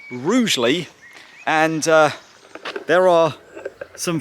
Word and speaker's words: Rugeley: this trail and I asked him how to pronounce the name of the town. I thought it was Rugley. He said the locals call it Rugly, but it's actually pronounced Rouely.